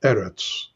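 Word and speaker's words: אֶרֶץ: is usually usually errates errors is a segulate noun accented on the first syllable eretz okay but when the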